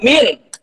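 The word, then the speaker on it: مِن: Tetapi, jika ada tulisan mim dan nun, dibacanya min. Artinya beda. Artinya dari, min itu dari min Bandung, dari Bandung.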